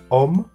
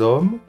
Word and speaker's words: homme: começa por uma vogal ou um H mudo, aí você escreve L apóstrofo. Um exemplo bem comum é tipo homme, que se escreve com H-O-M-M-E. Aí você vai falar o homem, vai ficar l'homme, certo?